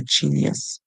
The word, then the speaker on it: genius: can call them a genius and you can work on the spelling cuz the G makes a soft sound so it is not sound as it is spelled so all these words